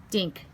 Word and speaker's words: Dink: Dink, Sammy repeated. That rhymes with think and pink and stink.